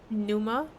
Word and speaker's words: pneuma: must be some greater pneuma behind it. I think the P is silent.